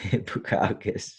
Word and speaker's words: Bukauskas: Modestas Bukauskas. Bukauskas. It looks like how you say it.